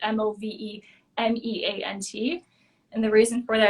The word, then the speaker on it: Movemeant: So the name of the business is called Movement of Massage and Yoga, and it's not like spelled like meant like movement. It's spelled Movemeant.